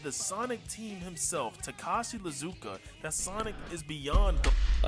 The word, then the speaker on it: Iizuka: Bro said Lizuka. I'm sorry. I'm not trying to be rude, but like, it is just stopping me in my tracks every time. Lizuka. There's no way, bro. Bro, there's videos out there of people pronouncing it the way it's pronounced. Oh, yeah. No, that's not an accent. No, you gotta be trolling at this. No, that's not an accent to add an entire letter at the beginning.